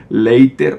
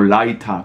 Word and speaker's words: Leiter: de una fotografía de Saul Leiter o Leiter, como prefieran pronunciarlo.